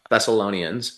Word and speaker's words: Thessalonians: um was uh and I always say this name wrong in the Bible is second Thessalonians. Thessalonians.